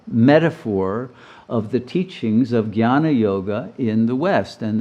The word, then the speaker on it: jnana: level of knowledge, or jnana. And the word jnana, or jnana, it actually is a G-N-Y-A-N-A, if you pronounce it accurately.